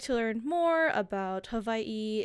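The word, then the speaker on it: Hawaiʻi: It's more of a Hawaii with a V sound instead of the W.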